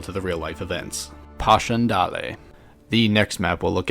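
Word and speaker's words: Passchendaele: at is Posh andal another map that I've been mispronouncing myself for a long time I used to call it Pash Andale you learn something new every day the Battle of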